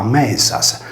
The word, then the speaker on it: Medias: La voce Medias si leggeva Mesas, poiché la consonante S